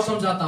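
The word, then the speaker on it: Psalm: साम लिखा होगा, साम। साइलेंट होगा।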